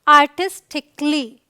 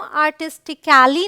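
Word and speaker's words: artistically: three क्या कहता है अगर वर्ड के अंत में आई सी ए एल एल वाई आए तो a साइलेंट होता है देखिए साइलेंट लेटर्स को समझना बहुत ज्यादा जरूरी है अक्सर बहुत सारे वर्ड्स में साइलेंट लेटर मिल जाता है तो यहां पर हम इस एग्जांपल को अगर देखें यह है आर्टिस्टिक क्ली इसे हम आर्टिस्टिकली नहीं पढ़ते हैं मतलब सी ए एल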